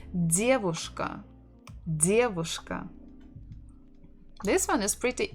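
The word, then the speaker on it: девушка: the dear voice Ka so stress the first syllable diabushka diabushka this one is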